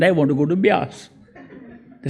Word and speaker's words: Beas: to a place called Beas, B-E-A-S, Beas. When he used to fly over the map, he would look at the map, he used to pronounce it bees and miss it.